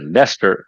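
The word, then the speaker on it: Leicester: I mean you got you call it Lester it's not even written as Lester it's written something else can even pronounce that yeah yes it's written l sister something I know and there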